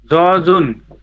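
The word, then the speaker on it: 젖은: কি হবে বলেন দেখি জজন জজন উচ্চারণ হবে কি জজন এই জিউরটা ইয়ং এর এখানে গিয়ে জ উচ্চারণ হবে বুঝেছেন তাহলে উচ্চারণ হবে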